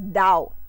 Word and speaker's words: Tao: Those who follow him must live by the Tao, which means the way. Again, I would like to emphasize here or bring to light that it is written as T-A-O and pronounced as Dao.